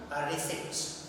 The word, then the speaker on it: receipt: Then receipt, R-E-C-I-P-T. Here P becomes silent, it is not pronounced. So we have the pronunciation receipt.